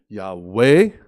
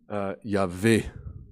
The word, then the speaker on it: Yahweh: ces mêmes consonnes, et nous aurons la prononciation Yahweh, ou comme on dit en français, Yahvé. Donc, 2 façons de prononcer en fait le même mot hébreu, Jéhovah ou Yahvé.